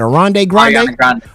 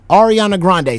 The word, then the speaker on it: Ariana Grande: correct me uh arand how you say it arand Grande ar ar Ariana Grande so you was with the frunk flex you was getting sign Russell Simmons and you were secretly dating what's her name again Ariana Grande Ariana Grande how like it was like it